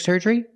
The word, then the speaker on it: surgery: Use the sound like burger. Surger. Both vowels. Surgery. And a long E at the end, like green beans.